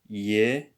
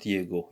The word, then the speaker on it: его: so it's going to be pronounced as Yevo and not Diego, even this is G. Why? Because of the morphology, the Russian morphology.